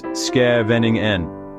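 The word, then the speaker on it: Scheveningen: You arrive in Shaeningan, pronounced Ske Vening Nen, the Hag's bustling seaside resort.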